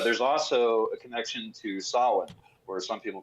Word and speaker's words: Samhain: But there's also a connection to Samhain, or some people pronounce it Samhain, and that's a very explicitly pagan festival that